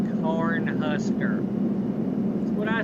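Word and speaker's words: Cornhusker: I said horn Kuser it's corn huser I said horn Kuser yeah I know you said that you're saying it wrong no or Kuser is the right thing to say no it's Corn Husker what if it was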